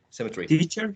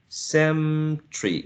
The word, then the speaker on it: cemetery: but i think that out of four you can elide only one syllable and it's a cemetery the one in between two and er i think that is little that a vowel sound may be elided symmetry sem tree you will be lighting